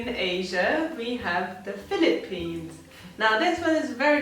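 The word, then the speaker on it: フィリピン: Because this F is very difficult, we don't have this F. So we just add Fu, I, Fi, Philippine.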